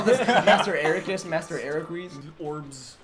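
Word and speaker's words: Eraqus: And now I only pronounce his name as Ericus. Ericus. Because that's how IGN pronounced his name.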